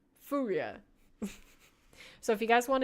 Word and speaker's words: FURIA: Furia.